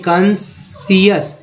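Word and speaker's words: conscious: आई हो गया उच्चारण, यहाँ देखिए कंसियस, एस आई का उच्चारण सिर्फ हो रहा, सी, सी जो है साइलेंट कर दिया गया, कंसियस वो यू स्क्वास बोलते हैं, और क्रेसेंड, उसके बाद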